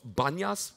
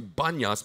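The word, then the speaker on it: Banias: the the city now the city is called banyas like with a B you know why that is somebody asked me why you know why because in Hebrew they don't pronounce the letter P so they just officially change the name to banyas because they can't say panyas in Hebrew all right and whatever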